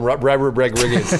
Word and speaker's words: Rodriguez: I like that you call him Rodriguez. Because that's about. Well, that's how it's pronounced in Spanish.